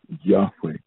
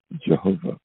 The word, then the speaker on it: Yahweh: And so the scripture tells us, it is the Lord who reigns, Yahweh, sometimes pronounced Jehovah.